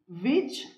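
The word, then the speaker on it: which: చెప్పకూడదు right the states విచ్ the states విచ్ ఓ చూడండి డబ్ల్యూ ఓ ఆర్ ఈ ఓ ఇక్కడ మాత్రం డబ్ల్యూ ని రౌండ్ అప్ చేసి చెప్పాలి పెదవులు రెండు రౌండ్ అప్ చేసి చెప్పాలండి మెజారిటీ ఆఫ్ ద టైమ్స్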